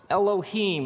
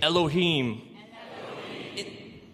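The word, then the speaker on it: אֱלֹהִים: it would look something like this and it's pronounced elohim let me hear you say elohim in the beginning elohim created the heavens and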